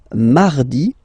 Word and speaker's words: mardi: So you can hear that you don't pronounce it that strongly, this R. Huh? Mardi, mardi, okay? You don't need to go too deep like mardi. No, no, no. You don't move your tongue, so it doesn't sound like mardi.